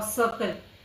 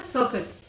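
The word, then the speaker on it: circle: और सर्कल, सी के बाद आई आएगा तो सर्कल, सर्कल, इस तरह पढ़ना है, ठीक है।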